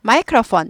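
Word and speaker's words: microphone: 줄여서 들어왔는지 모르겠지만 예 PH F 발음 나죠 그다음에 폰 아니고 포 UN 오우 발음납니다 영어는 오가 아니라 오예요 그래서 폰 폰 마이크로폰 마이크로폰 마이크로폰 마이크로포 이렇게 되죠네 h have a 폰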